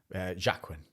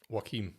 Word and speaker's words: Joaquin: Jacquin. Is it Jacquin? How do you say his name? What? How do you say his name? The guy who played the Joker. Oh, Joaquin. Joaquin, that's it.